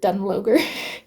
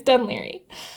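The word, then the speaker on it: Dún Laoghaire: We're in the like Royal Marine Hotel in Dunleary, which is spelled like I thought you pronounced it Dunloger. You do not. It's Dunleary. But I was like, well, I'm not based anywhere, so I will take a hotel room.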